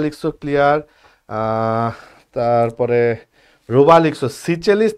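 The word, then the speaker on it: Seychelles: clear তারপরে রুবা লিখ সিচেলিস নাকি সিজেলিস হ্যা উচ্চারণ একেকটা একেক রকম হয় সিচেলিস পড়বা সিচেলিস এইযে সিচে সিচেলিস ঠিক আছে এখন প্রশ্ন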